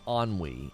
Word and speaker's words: ennui: Oh, it's pronounced ennui.